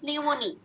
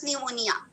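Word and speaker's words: pneumoniae: হ্যাঁ, যেমন streptococcus নিউমোনি, কি বলবা সে? Streptococcus নিউমোনিয়া, নট not that. নিউমোনিয়া হচ্ছে ডিজিজের নাম, আর নিউমোনি দেখবা যে এ ই লাস্টে। ঠিক আছে, streptococcus নিউমোনি, Haemophilus influenzae, not influenza.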